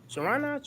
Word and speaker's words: Charania: Charania?